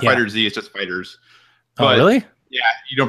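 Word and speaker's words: FighterZ: stuff drinkable fighters it's not energy is just fighters highly yeah you don't pronounce the disease like an S hold by many people because I was saying all the time too and then people know it's just fighters um so yeah I mean that when I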